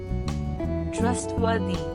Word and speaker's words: trustworthy: easy availables and the emphasis on first syllable Trust War they trustworthy the meaning of